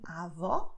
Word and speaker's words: avó: The meaning is different and the way of pronouncing is also different, because avó, I'm opening my mouth. Avô, I am closing it.